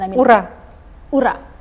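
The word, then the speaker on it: ура: pronounce it uh well uh in the right pronunciation I mean Ur Ura Ura okay good morning your Excellency thank you very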